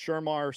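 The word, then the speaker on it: Shemar: I have them picking, uh, I think it's pronounced Shermar or it's not Sherman. It's Shermar Stewart out of Shamar Texas A&M.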